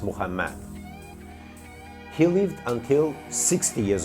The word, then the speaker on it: Muhammad: sidarta Buddha lived until 80 years old Muhammad pronounced Muhammad he lived until 60 years old Three Holy